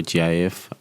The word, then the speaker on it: GIF: um jpeg tiff um jeff or gif depending on how you pronounce the png and bmp